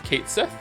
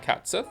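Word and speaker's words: Cait Sith: So So it's Kate Seth. It's not catsith. Everyone I knew said it was catsith and they would call call them catsith.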